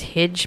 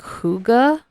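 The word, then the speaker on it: hygge: I actually butchered the pronunciation as Hidge, but it's actually like Huga.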